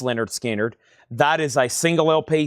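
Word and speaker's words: Lynyrd Skynyrd: And now for $24.99, Leonard Skannard. Pronounced Leonard Skinnard.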